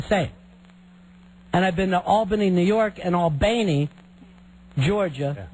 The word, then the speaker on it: Albany: And everyone's Albany. It's Albany.